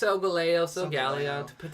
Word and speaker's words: Solgaleo: I keep pronouncing it wrong. It's Solgaleo, potato.